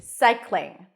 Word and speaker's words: cycling: in the word cycling you start with an S sound then it's the I as in my Sai Sai then you have two consonants together in the back psych and then you bring the tongue up for the L so you want to